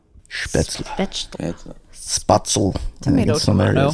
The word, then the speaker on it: Spätzle: So I'm Not spatzel? Spätzle. Spätzle. Spatzel. Tomato, some tomato. areas, like, It's actually pronounced Ferdinand.